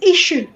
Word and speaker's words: issue: Now, our people call it the way it is spelled, but that double S, if you look in the dictionary, it's a sh sound. So it's issue.